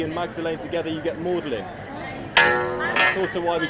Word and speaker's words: Magdalene: Lord Chancellor Thomas Audley now it's spelled Magdalene and there's a sister College in Oxford called Magdalene you might be wondering why do we call it modeling well that's because uh